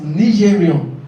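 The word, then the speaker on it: Nigerien: And the pronunciation is not Nigeria. It's pronounced as Nigerian. It's a French word. Nigerian. The E gives you O, right? In French.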